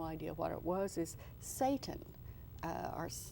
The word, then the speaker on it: seitan: Something that I had read about and had no idea what it was is seitan, or seitan. And how do you spell that?